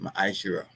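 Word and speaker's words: ma'aser: And it means tent in the Hebrew and is pronounced maishira.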